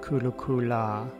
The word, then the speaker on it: Kurukulla: is chanting her mantra kurukule in the mantra is pronounced kurukule in her name it's pronounced kulukula 108 repetitions of kudukula's